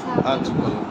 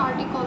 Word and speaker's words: article: শর্টে লিখলে আরো বড় লিখছো ও বটল লিখছিল আর্টিকল তাই তো আর্টিকেল না আর্টিকল স্যার ইংলিশে তো আর্টিকল উচ্চারণ হয় স্যার আপনার সাথে যে উচ্চারণ করছেন